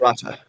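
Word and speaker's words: Rotta: Roa, how do you pronounce it? Ratta.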